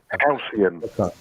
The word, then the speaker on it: Halcyon: how do I pronounce that? Helicon? Helicon? It goes to 16. Halcyon.